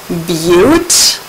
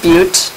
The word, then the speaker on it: but: single bonds four carbons beaut that's pronounced Butte four carbons is beaut aim for single bonds it's not but and it's not a button lighter it's a beaut and lighter now you know you